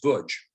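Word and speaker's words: Łódź: don't know about the lodge ghetto it's actually pronounced butch because of the fact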